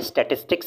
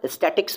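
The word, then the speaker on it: statistics: में स्टेटिस्टिक्स कहते हैं लेकिन कई सारे लोग आपको स्टेटिस्टिक्स की जगह स्टैटिक्स बोलते हुए नजर आएंगे वो गलत शब्द होता है स्टैटिक्स नहीं होता है स्टेटिस्टिक्स होता है इसकी स्पेलिंग देख लीजिए टी ए टी आई एस टी आई सी एस स्टेटिस्टिक्स ना कि स्टैटिक्स वो अलग चीज होता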